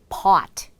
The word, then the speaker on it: pot: pot, pot. 그래서 실제로 우리 커피 포트 할 때 포트가 아니라 pot 이렇게 발음하시면 됩니다. pot.